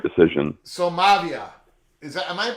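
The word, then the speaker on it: Maiava: So Mavia, am I pronouncing that correctly? Mayava.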